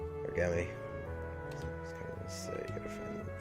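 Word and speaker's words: Gummi: Oh, and we got another navigational Gumi. Or Gummy.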